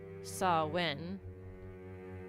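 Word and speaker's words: Samhain: Um Sam Hayne uh approximately pronounced sawen whoops uh is a Gaelic festival traditionally occurring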